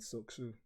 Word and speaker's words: Soksu: I say it like as if there's a K and an S and a U. So SOKSU. Soksu.